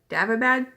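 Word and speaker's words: Daevabad: It's the first book in the Davabad trilogy, is how you pronounce it.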